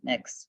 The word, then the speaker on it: Mx: I pronounce it Mix. I've heard someone else pronounce it Mixter.